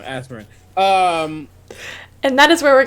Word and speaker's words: Azmarin: How dare you, in the year of my Azmarin Lord? I said it wrong, Azmarin.